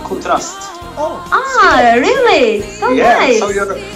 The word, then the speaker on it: Contrazt: nice oh we say we say contrast yeah yes so so it's uh pronounced in in no as well contrast oh ah really so